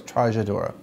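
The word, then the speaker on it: Trajadura: sometimes I went, oh, I know how to pronounce that, which I kind of stumbled over Trajadora instead of Trajadora, it's Trajadora.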